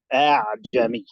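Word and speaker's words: أأعجمي: But for the next one, I don't pronounce it from that place. It's further up in the throat. A'jami. So it doesn't have a hamza quality.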